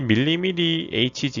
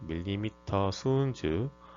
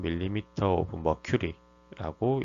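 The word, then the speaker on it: mmHg: 이 밀리미리 HG 이렇게 읽는 분들도 계신데, 정확하게는 혈압을 읽는 단위는 밀리미터 순주 혹은 밀리미터 오브 머큐리라고 읽으셔야 됩니다.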